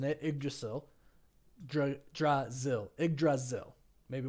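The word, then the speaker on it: Yggdrasil: pronouncing it but the but the the y g is IG right so thank you for confirming that IG dzil IG Dil thank you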